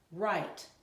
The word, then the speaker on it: write: I'm going to say it, you're going to spell it, and then we're going to say it together. Ask. Ask. Write.